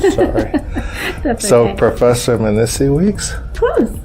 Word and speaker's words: Mnisi Weeks: Professor Mnisi Weeks? Close. Mnisi Weeks, yeah.